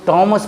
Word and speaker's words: Thames: आपने देखा कि यहाँ TH का उच्चारण ट हो गया है। उसी तरह से दूसरा वर्ड है THOMAS, इसको टॉमस पढ़ा जाता है, थॉमस नहीं पढ़ा जाता है।